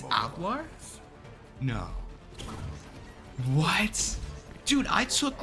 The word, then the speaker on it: hablar: what you're talking about do is H silent in Spanish it's not hablar three two wait wait is H spot silent in Spanish wait that kind of makes sense Ola no it's alar no what dude I